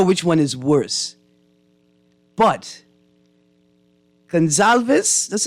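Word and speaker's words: Gonsalves: I don't know which one is worse but gonzalves that's how you pronounce his name I don't even I can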